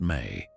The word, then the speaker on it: me: Another secret lies in a Sumerian concept called the ME pronounced may.